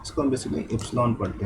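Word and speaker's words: epsilon: इसको हम basically एप्सिलॉन पढ़ते हैं। ये एक ग्रीक लेटर है, इसको एप्सिलॉन करते हैं। मे बी स्पेलिंग रॉन्ग हो, बट जो भी है प्रोनाउंस में प्रॉपर कर रहा हूँ, तो बेसिकली एप्सिलॉन।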